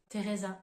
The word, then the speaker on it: Teresa: se prononce en anglais alors autre exemple Teresa pour dire le prénom Teresa en français donc là encore une fois la prononciation du T uniquement on entend pas du